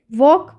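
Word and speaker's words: walk: भी L silent रहेगा वॉक वॉक में भी एल साइलेंट रहता है वॉलक पढ़ते हैं कहीं लोग वह गलत है इसे वॉक पढ़ा जाएगा ठीक है नेक्स्ट क्वेश्चन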